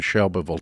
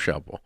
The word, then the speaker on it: Shelbyville: I love Shelbyville. It is but pretty, and that's how you say it. It's not Shelbyville unless you're a Yankee. Right. It's Shelbyville. But yeah, so one syllable.